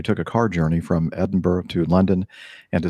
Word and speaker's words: Edinburgh: a car journey from Edinburgh to London and to say is Edinboro I always mispronounce that don't I Edinburgh I know you're fine okay yeah well Barbara edinburg is not Edinburgh right to London and